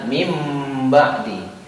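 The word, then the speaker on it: مِنْ بَعْدِ: bacaan iqlab itu sendiri Nun ini kita jadi ganti dengan game ya jadi Bacanya adalah mimba'di ya ini adalah untuk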